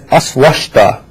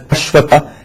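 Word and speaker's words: Aśvattha: The majority of people make a mistake when chanting Ashwatha. They chant it as Aswashta. It should be pronounced as Ashwatha and not Ashwashta.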